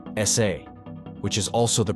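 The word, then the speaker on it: 사: the Korean word for the number four is pronounced sa which is also the pronunciation for the hanja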